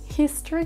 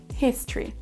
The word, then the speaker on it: history: Mbappé oublie aussi le H de history qui doit aussi être prononcé. History.